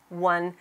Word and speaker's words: one: it's so tricky because what's the sound you hear at the beginning one oh my goodness there's no w in the word one o n e is